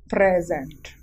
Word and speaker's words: present: Like this is a word, present. So can you find out the verb and the noun here and the stressed syllable in both categories? Yes. The pre is a noun, the stressed syllable here, and the sent